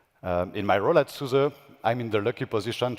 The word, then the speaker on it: SUSE: son now doesn't that amusia in Susa NC Sousa the spelling might illusia it's s fu the